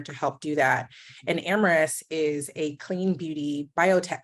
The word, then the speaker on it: Amyris: You by Tia is a joint venture with Amyris. Sorry, I mispronounced it.